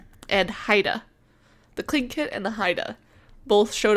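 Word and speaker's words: Tlingit: So it looks like T lingitate. Yeah, I tried to read that like 5 minutes ago. According to this website, it's pronounced clinkit. Okay. And haida. The clinkit and the haida both showed off status using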